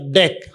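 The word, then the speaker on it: deque: Here DQ DQ pronounced as deck. Some sometime you can also refer as pronounced as deck.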